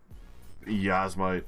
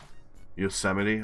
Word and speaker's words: Yosemite: Yasmite, alright. And then Mammoth Pool. Yasmite's California, isn't it? Fuck. I actually don't know too much about Yasmite. Yosemite?